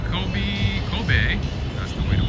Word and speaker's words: Kobe: soon weather is good azim is saying Kobe Kobe that's the way to pronounce it KOB has most expensive steak I